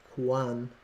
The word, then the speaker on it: QANX: set an alert oh it tells you how to pronounce it Quan Quan and what is